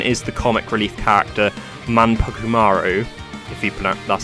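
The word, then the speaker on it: Manpukumaru: My Favorite progression is the comic relief character manumaru if you PR that's how you pronounce her name a character that loves food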